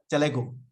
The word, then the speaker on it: Telugu: So in the chat, you can maybe tell me about the story because I saw it in, is it Telugu? How do you pronounce the language? Telugu.